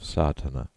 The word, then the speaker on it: Sadhana: word may be added about the pronouncing of satana the accent Falls decisively on the first a which has the broad sound of the letter contents one the relation